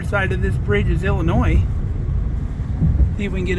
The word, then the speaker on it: Illinois: and we're officially in Illinois and until I met Kelly I always said Illinois I pronounced the S on the end but she corrected me she's from Illinois originally so we're going